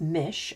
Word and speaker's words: Mis: An old Irish story of pronounced Mish, okay, tells of a woman who, driven mad by grief and horrors of war, grows fur and feathers.